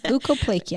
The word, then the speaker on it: leukoplakia: Yes, leukoplakia.